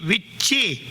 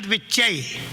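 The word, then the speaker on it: Vichche: The proper mantra is Aing Hrim Klim Chamundai Viche, not Vichai.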